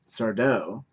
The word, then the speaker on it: Sardo: their recurring characters Mr sardo that's tattoo no Mister Accent on the toe sorry sorry sardo and Dr Brink think